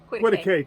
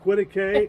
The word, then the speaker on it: Quitaque: And there's the town of Quitique is about 3 miles from here. There's Quitique. Quitique. It's spelled Quitaque. Right. But they have the pronunciation Yes. on the sign when you come into town.